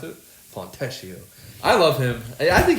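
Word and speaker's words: Fontecchio: happens yeah um Pistons they they get Simone fesio yeah that's how you pronounce it fesio I love him I think he's a great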